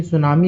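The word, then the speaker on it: tsunami: भारत में अच्छा जो आपकी सुनामी होती है उसको हिंदी में सुनामी लिखते हैं लेकिन इंग्लिश में लिखते हैं तो टी एस यू एन एम आई होता है। ठीक है? टी साइलेंट होता है।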